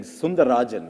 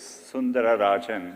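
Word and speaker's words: Sundararajan: One of the things I read about you, it said Sundar Pichai is Sundar Rajan, right? To give you the whole name. It actually was Sundara Rajan.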